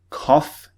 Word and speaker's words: cough: example laugh or cough cough is spelt c-o-u-g-h so sometimes not always sometimes the gh spelling is pronounced with an f sound okay so keep that